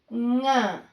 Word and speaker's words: ಙ: Nga. I written NYA, but pronunciation is like nga.